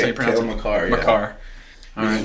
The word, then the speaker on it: Makar: That's how you pronounce it. Cale Makar, yeah.